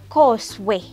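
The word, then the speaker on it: khoswe: Okay, so a rat in Chinyanja, it is Koswe. Koswe. And how do we spell it?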